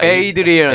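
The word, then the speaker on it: Adrian: 그리고 저는 아드리안을 발음하는 방법. 아 에이드리안.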